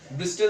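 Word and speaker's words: bristle: ठीक उसी टाइप से दोस्तों यहां पर एक सिटी लाइक स्ट्रक्चर्स निकलते हैं जिसे हम ब्रिस्टल भी बोलते हैं। ब्रिस्टल टी यहां पर साइलेंट होता है।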